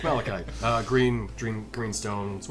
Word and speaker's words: malachite: from the egg i always say it wrong melancholic milo's shot oh yeah malachite yeah yeah oh yeah gems from the head